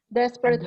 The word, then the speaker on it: desperate: Desperate housewife. Underline on the first syllable.